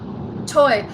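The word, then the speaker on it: Toi: Toy.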